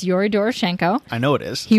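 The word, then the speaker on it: Doroshenko: saying their names dorenko D yes it's Yori dorenko I know it is he was 21 there's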